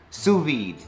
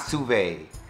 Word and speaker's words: sous-vide: that being said enjoy the video and it's pronounced sous-vide not survey oh Lord now also we're gonna make we're